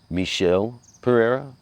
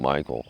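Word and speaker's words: Michel Pereira: nico price and michelle pereira i kept saying michael i you know i i'm sorry for getting that name wrong and i i really should have known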